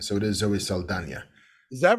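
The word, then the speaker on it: Zoe Saldaña: she actually does she she stretches she's got the tilde over the end so it is Zoe Saldana is that right yeah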